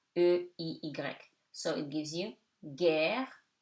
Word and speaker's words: guerre: The letter U is silent before G. So it before EIY. So it gives you guerre, guichet.